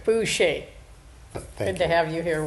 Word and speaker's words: Boucher: And if I didn't pronounce his name right, I'm going to have him say it. It's Wayne Boucher. Boucher.